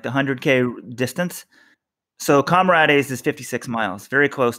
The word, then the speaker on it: Comrades: So Comrades is 56 miles, very close to 100K. Comrades, you guys, there is a word in the English language called comrade. I don't understand how you keep pronouncing this wrong.